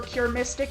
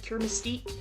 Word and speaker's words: Cure Mystique: Now, let's move on to Mikaru Kobayashi aka Cure Mystique. Yeah, when I cure mystic in the last video, I was wrong. In my defense, literally everyone else was also calling her Cure Mystic instead of Cure Mystique.